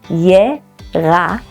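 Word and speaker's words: ירקות: Beef is bakar, and vegetables are yerakot. The tricky part here is pronouncing the r in bakar and yerakot. Try pronouncing the r and notice your tongue is rolling close to the back of your throat.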